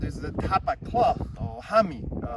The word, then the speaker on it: hami: This is the tapa cloth or hami, spell it H-A-M-I, hami, and that's the tapa cloth of traditional clothing.